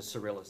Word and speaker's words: Cyrillus: And next is crater, how do you pronounce it? Cyrillus.